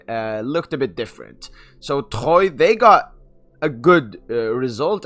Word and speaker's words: Troyes: It's your boy PSGINT here, back with the preview for Paris Saint-Germain contre Troyes. They are pronounced Troyes and not Troyes.